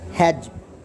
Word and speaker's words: hedge: Hedge, when there is vowel D and G, then D is always silent.